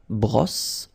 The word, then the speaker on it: brosse: Remember, don't insist on this final brosse.